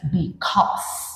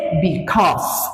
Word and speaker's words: because: Miren, esta palabra es because, no se dice becaus, se dice because.